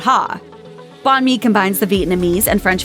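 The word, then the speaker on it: bánh mì: Avoid saying banh mi if you order one. Just remember it sounds pretty close to banh mi.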